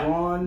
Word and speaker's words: Braun: Braun, that's a Braun? Braun. It's spelled weird, but hey.